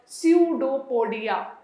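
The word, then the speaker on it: pseudopodia: ऑफ the process called स्यूडोपोडिया. स्यूडोपोडिया, P silent, बाकी सब violent, right.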